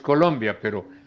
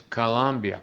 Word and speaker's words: Colombia: No es, en español es Colombia, pero en inglés es Colombia, con schwa.